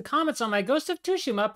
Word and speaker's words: Tsushima: know Jen and other Japanese speakers I've seen pronounce it as toua which I seek to imitate but I'm told by a friend I'm overstressing the tea I'm only saying all